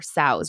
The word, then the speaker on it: SOWS: Sows rhymes with cows.